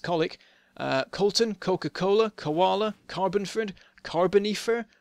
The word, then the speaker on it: Colwick: We've got Colfell, Colwood, Colbury, Colesbury, Cologne, Colchester, Colwick, pronounced Colic, Colton, Coca-Cola, Koala, Carbonford,